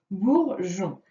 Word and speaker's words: bourgeon: Orangeade, bourgeon. Ici, ça s'écrit donc GEA dans orangeade. On voit ici que le E est muet. Et dans bourgeon, GEO, et le E est encore muet.